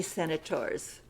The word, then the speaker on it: senators: You might notice this first S is pronounced S, and the last one is pronounced Z.